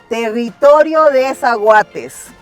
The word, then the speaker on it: Territorio de Zaguates: Territorio De Zaguates.